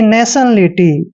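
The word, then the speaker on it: nationality: मात्रा पढ़ते हैं और जब भी टी आई ओ एन चारों लेटर इकट्ठे आते हैं तो इसको हम सन पढ़ते हैं क्या पढ़ते हैं शन और देखिए यहां पर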